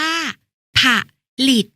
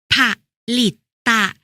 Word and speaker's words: ผลิต: ผลิต ก็ แล้ว กัน ผลิต อ่าน ว่า ผลิต หรือ ผลิต ตะ ก็ หมาย ถึง ทำ